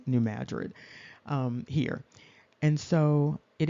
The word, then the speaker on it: New Madrid: New Madrid area and that's also like Madrid in Spain but it's pronounced New Madrid um here and so it indicates here that this is going to begin at 12:40 p.m.